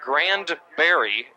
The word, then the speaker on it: Grandberry: Brandon Granberry, not Granberry, the town, but Grandberry is the pronunciation of the last name for that tailback.